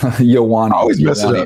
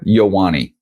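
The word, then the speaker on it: Ioane: Yeah, so Yowani. Venga Venga Venga Yowani.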